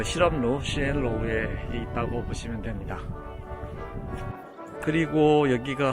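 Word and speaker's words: 实验楼: 시엔로우라고 있고요. 저기에는 여러가지 시설들이 있죠. 예를 들면 컴퓨터실이라든지 아니면은 이제 어학 강의들을 하는 랩실이라든지 이런 것들이 저 그 실험로 시엔로우에 있다고 보시면 됩니다.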